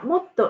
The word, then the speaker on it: も: And adverbials も and もっと。The pronunciation もっと is high-low, but も is low-high.